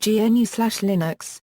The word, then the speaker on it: GNU/Linux: Linux for the GNU Project Stallman repeatedly asks that the term GNU/Linux, which he pronounces "GNU slash Linux", be used to refer to the operating system created by combining the GNU system and the Linux kernel.